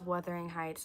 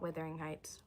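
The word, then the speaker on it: Wuthering Heights: It's Weathering Heights, not Withering Heights.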